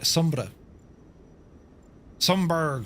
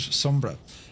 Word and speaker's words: Sumburgh: then uh it's out towards uh Sombra Sberg but I think they pronounce it Sombra.